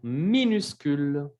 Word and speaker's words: minuscule: C'est très petit, c'est minuscule. Minuscule con el sonido U que tenemos dos veces. U, U. C'est minuscule.